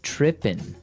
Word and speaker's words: tripping: that this girl started tripping. Tripping. Tripping. So to trip, right? As you notice, it's tripping. It doesn't have the G at the end, which isn't really grammatically